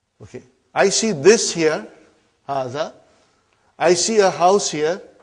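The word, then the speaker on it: هذا: Haza. See, it is pronounced like haza. But this alif is not written. It is explained in the key also.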